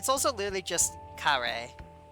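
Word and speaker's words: カレー: It's also literally just kare. Like That's honestly. That sounds like English. Like they it's just because mispronounce curry.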